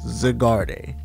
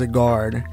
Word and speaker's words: Zygarde: Obviously, it's Zygarde, or Zygarde. However way you want to say his name, it is Zygarde, and that's pretty awesome.